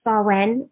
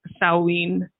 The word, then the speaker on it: Samhain: That was closer to how the Americans pronounce it, Samhain. So that's what we're going to go with, isn't it, Tracey? Samhain is how I've always pronounced it. If you see it written down, though, it's spelled completely different.